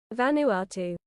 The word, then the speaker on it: Vanuatu: Venu. Let me check if I'm saying that right. Hold on. Vanuatu. Pronuniation. Vanuatu.